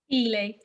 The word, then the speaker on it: Eley: a living how do you say your last name i apologize elay i was gonna guess